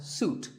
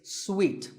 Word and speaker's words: suite: in a hotel and this is wrongly pronounced by many people as suit but it's sweet like when you eat a piece of candy sweet and while we're on